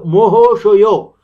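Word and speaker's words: মহাশয়: For example, Babu Mahasaya is pronounced as Ba becomes Bo. So Bobu, Ma becomes Mo, Ha becomes Ho, Sa becomes So, Ya becomes Yo.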